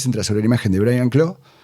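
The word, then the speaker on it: Brian Clough: Estamos hablando el la película se centra sobre la imagen de Brian Claw. Prenlof sería una pronunciación más o menos bien y Peter Taylor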